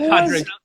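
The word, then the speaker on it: Pádraig: It's pronounced Patrick.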